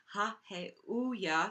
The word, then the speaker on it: Haheuiah: And without further ado, let's sing Haheuiah. So it's emphasis on the first H. It's really hard. It's like ha, and then hey, and then ooh, ya.